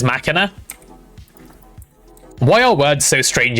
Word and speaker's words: machina: You know, every time I say machina, I have the temptation to go masher because like that feels like the way it should be pronounced, but no, in fact, it is machina.